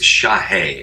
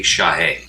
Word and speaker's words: Shahe: It's Shahe, S-H-A, and then think of the word hey, Shahe. Shahe.